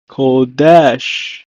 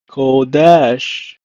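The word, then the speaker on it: קדש: In Hebrew, is pronounced as kodesh, kodesh.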